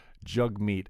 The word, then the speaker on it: Jagmeet: jug meat sing uh it's spelled jag meat but i've heard it mostly said jug meat and buddy the other